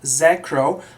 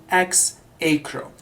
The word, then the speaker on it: Xacro: x a c r row and some people pronounce this word as zacro however some other people pronounce this word as X Acro however I will use the first pronunciation that